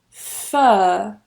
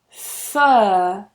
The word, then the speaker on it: fur: Fur. Fur. Fur. No R again.